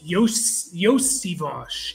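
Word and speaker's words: Iosivas: just have to look it up but it's yosivage it's not pronounce how it looks he played at Princeton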